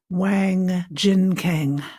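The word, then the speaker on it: Wang Jinkang: of them was the return of Adam by Wang Jin Kang I think you would pronounce it.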